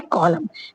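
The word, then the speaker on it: column: कॉलम की spelling क्या होती है? एन लास्ट में आता है। लेकिन क्या है? एन साइलेंट होता है। बस इसका क्या है? रूल है। अगर एम के बाद एन आता है तो एन क्या है? साइलेंट हो जाता है।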